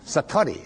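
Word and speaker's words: satori: Satari s a t o r i and it means instant awakening.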